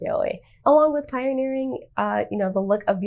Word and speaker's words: Yaoi: known as Yaoi, which I said completely wrong in the other video, so please ignore that, but I believe it's pronounced Yaoi.